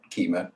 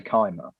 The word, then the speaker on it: Kyma: start with um would be to talk about keema and i'm yeah i was pronouncing that right so i i used i used to pronounce it wrong to the carla who made it i would say kyma yeah yeah and they would say no it's